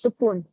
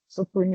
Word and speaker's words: Sokun: Yes, Sokun. Sokun is how you say it.